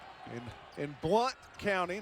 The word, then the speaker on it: Blount: I appreciate your correct pronunciation there because no one in Maraveville has ever pronounced it Mville. That's right. In in Blunt County, not Blount County.